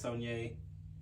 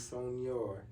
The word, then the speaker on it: Sonnier: How you say it is Sonnier. Okay, I thought it was Sonnier.